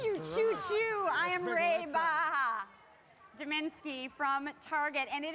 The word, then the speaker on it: Reba: Say hi to Reba Dominski from Target, but she told me to pronounce it Reba. What was that? Reba. Like a sheep, you know.